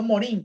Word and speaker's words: Morin: Así que ahí está el pensamiento complejo de Edgar Morin, ¿ya? O Morin, como querrás pronunciar, ¿ya?